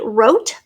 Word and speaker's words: wrote: It is the R sound at the beginning of a word, sometimes spelled with a silent W. So silent W and then an R.